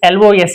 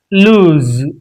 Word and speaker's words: lose: The pronunciation of this LOSE is lose, lose. So it is lose.